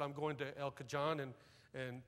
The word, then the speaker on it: El Cajon: said i'm going to el cajon and san jose she said out here we pronounce that j like an h it's el cajon and san jose how